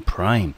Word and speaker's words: prime: ，所以呢前面这个音节的母音呢就发它字母的音。